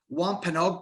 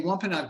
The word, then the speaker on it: Wampanoag: So in 1621, colonists from England and the native Wampanoag people shared a feast that is said to be the first Thanksgiving feast.